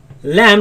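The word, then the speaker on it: ل: This comes from right after the teeth, right after the roots of the teeth, in a place called litha. And we say lam.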